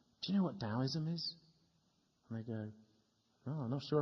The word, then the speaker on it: Taoism: Taoism, the old ancient philosophy of China, it used to be spelt Taoism, T-A-O, but it's pronounced Taoism and spelt now D-A-O.